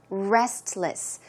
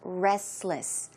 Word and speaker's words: restless: be a Restless sleeper restless but if you pronounce the word a bit quickly naturally you may not hear the T so it could sound like Restless Restless a Restless sleeper